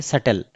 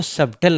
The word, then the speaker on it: subtle: जैसे आपके पास एक वर्ड है सटल, SUBTLE, तो आपको सबटल नहीं पढ़ना है, आपको सटल ही पढ़ना है.